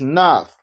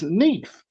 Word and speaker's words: Neith: But in the Bible it says Nath. It's spelled with an A, but in Egyptian it's E. It's Neith.